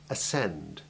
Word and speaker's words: ascend: Where SC is followed by the vowels E, I, or Y, the C is silent, or rather it is the soft C merged into the similar S sound.